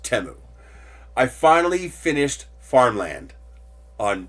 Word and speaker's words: Temu: I am pissed at Teemu temu it's actually pronounced temo I finally finished Farmland on temu yes they